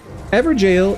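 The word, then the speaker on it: Evergaol: ever Gale but seriously ever jail is how people pronounce it it looks like ever Gale right it looks like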